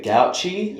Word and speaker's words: Gauci: My name is and I've got my guest Rebecca Gouchi.